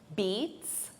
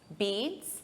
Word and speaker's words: beets: These are beets. Beats. It's the same pronunciation as the verb to beat, but the spelling is different.